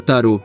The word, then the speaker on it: tarot: Só se tem certeza de que tarot é uma palavra francesa da qual não se pronúncia o T final.